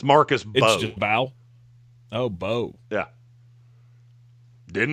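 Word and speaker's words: Mbow: Uh Marcus imbal. Yeah, the m silent. It's Marcus Bo.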